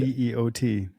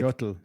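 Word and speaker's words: teotl: And T-E-O-T. Well, what they do is they terminate it with an L. So it looks like Total, yeah. But the L is silent.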